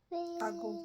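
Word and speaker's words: agụ: That's another reason why you might not get the pronunciation. Ago, oh yeah, is A-G-U. Ago.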